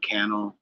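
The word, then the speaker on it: Cannell: the gentleman's name is Sean canel rhymes with YouTube channel um he's another gentleman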